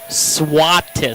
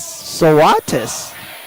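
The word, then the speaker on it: Svatos: She says, it is spelled S-V-A-T-O-S, but say it Swatis. Swatis. Thank you, Lauren. Swatis.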